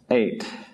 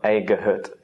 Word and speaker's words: eight: as in the word eight here we don't pronounce the G it's not aut just eight next sound